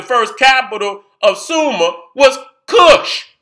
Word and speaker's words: Kush: capital of summer was kush now it's pronounced quiche but we understand that's kush you understand what i'm saying is quiche is kush so the first capital